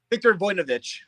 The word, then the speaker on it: Victor Voinovich: Victor Voinovich.